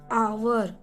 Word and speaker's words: hour: So it means that this is the giving this word is giving the sound of vowel. We will never pronunciate it hour. We will pronunciate it hour.